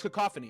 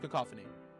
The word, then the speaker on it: cacophony: It was No, it's cacophony. It's cacophony.